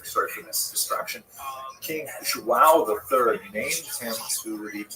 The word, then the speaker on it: João: I used to think it was wow, like when the baby was born, the mother would say, oh, wow, it's a boy. But it's actually João.